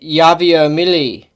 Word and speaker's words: Javier Milei: I would pronounce it Javier Milei.